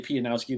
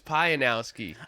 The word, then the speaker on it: Pianowski: just going to say it's actually pianowski there's four syllables in there we were both wrong i thought it was pionowski it's funny my my